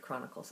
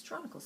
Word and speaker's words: Chronicles: to pronounce the word chronicles. I thought it was Tronicles because it starts with CH, so why shouldn't it be Tronicles? And he corrected me and said, "Actually, Catherine, it's Chronicles of Narnia."